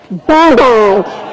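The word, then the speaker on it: bawbag: Bobag.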